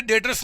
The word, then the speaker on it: debtors: यहाँ पे डेटर्स में बी साइलेंट होता है, हम बोलते हैं डेटर्स, बी साइलेंट होता है, डेटर्स इसको बोलते हैं।